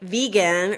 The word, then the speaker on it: Vega: Because I thought Vega like vegan or Veja like yes. Vegetarian. So and the only way I know it's pronounced Vega is I called the